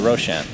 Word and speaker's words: Roshan: Roshan is actually a word in Farsi, which is why I pronounce it Roshan.